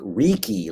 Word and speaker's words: Riki: r-i-c-k-y um and then r-i-k-i phonetically is like reeky like tiki and um oh look at that that's a great picture that's me in 1980.